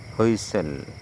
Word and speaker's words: whistle: কোন শব্দের শেষে এসটি এলই থাকলে সেখানে টি অনুচ্চারিত থাকে এবং উচ্চারণটি সল এর মত হয়। এক্সাম্পল খেসল দুর্গ হইসেল বাসি বা হইসেল দেওয়া